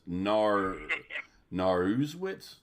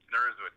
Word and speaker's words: Naruszewicz: I want to see how you pronounce it first. All right, this is okay, give me 3 tries. Naruszewicz. No, that you nailed it. Naruszewicz, yeah.